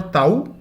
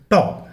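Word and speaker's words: tau: Okay, the pronunciation is अ टॉ, इट्स नॉट ताऊ, the pronunciation is टॉ।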